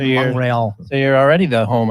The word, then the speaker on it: Montreal: How do you say it? Like how do the French? When I went there, Montreal is how they say exactly it. Montreal. I anglicized it Montreal.